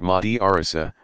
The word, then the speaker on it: madrasa: Students in a madrasa, pronounced madrasa, pursue a curriculum built